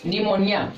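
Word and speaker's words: pneumonia: पहला है एन के पहले आया पी साइलेंट रहता है। जैसे ये लिखा हुआ है निमोनिया।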